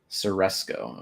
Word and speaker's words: Ceresco: Ceresco. Okay. That's how it's pronounced. Like sir.